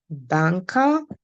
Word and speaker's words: Banker: different from ours okay their pronunciation is a little bit different from ours so we have banka okay I'm going to